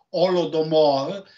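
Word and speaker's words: Голодомор: Sarebbe la strage per fame degli ucraini, che in russo, in ucraino si pronuncia Golodomor, ma nella trascrizione occidentale sarebbe Holodomor, che richiama l'olocausto.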